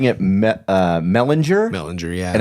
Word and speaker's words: Mellinger: Oh, I did say Mellinger, didn't I?